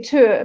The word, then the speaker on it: Tyr: So I say Tyr because that's the Danish pronunciation of it, but mainly people will call it Tyr.